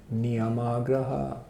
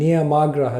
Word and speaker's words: niyamāgraha: But niyamagraha with a long A means you hold on to those things, not understanding the purpose of them and what they're meant to lead to.